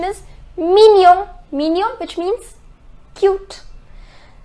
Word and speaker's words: mignon: The pronunciation is mignon.